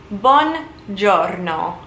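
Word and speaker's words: buongiorno: night so good morning bon giorno one is good journal is morning or day so one jonno good morning it is one word but it is essentially two words put together to create one giorno good morning next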